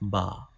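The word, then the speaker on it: ب: Let me show you origin of Ba. Ba. Use inner part of both lips to touch each other.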